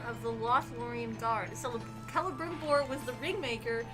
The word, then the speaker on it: Celebrimbor: So Celebrimbor was the ringmaker. The C is pronounced like a K.